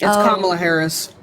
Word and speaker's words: Kamala Harris: It's Kamala Harris.